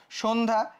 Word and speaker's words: সন্ধ্যা: তারপর দেখো সন্ধ্যা, সেম জিনিস, সন্ধ্যা, এই স্বর মধ্যে একটা অ আছে, অর পর আবার একটা জফলা আছে, তাহলে অটা কিসের মতো হয়ে যাবে, ওর মতো হয়ে যাবে।